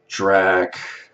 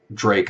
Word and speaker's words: Drake: type of black singer like drak Drake I should say Drake's how you pronounce his name Drake Nelly I don't